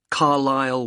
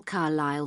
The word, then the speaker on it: Carlisle: and your address 45 carlisle way could you spell carlisle for me sorry it's c a r l i s l e you don't pronounce the s carlisle way and that's